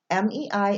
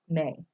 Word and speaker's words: Mei: up there de title Mei is pronounced like the fifth month of the year Mei okay all is rounded